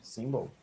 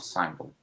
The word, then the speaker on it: symbol: you mispronounced this word you pronounce this symbol okay single single symbol not sample oh okay okay and